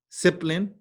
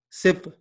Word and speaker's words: sibling: Sibling, just two syllables. Sibling. Sibling. Sibling.